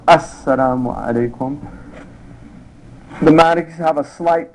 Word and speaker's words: Assalamu alaikum: The sitting position, saying the final salam once to exit the prayer, so it's pronounced Assalamu alaikum.